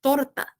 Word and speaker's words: torta: esse é muito diferente então no médico ele é torta torta tem esse R forte mais ou menos e